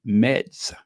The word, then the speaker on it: Metz: It's spelled Metz, Meds, but I have to go there.